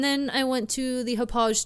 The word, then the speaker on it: Hauppauge: Hauppauge? I've never known how to actually pronounce that brand. I think it is that soft G, the Hauppauge.